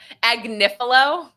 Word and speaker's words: Agnifilo: Agnifilo.